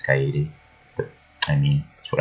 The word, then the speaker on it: Kaede: Well, I would say Cade, but I should at least say it right one more time. Because I'm pretty sure all of you hate me for saying it as Cade when it's Kaede.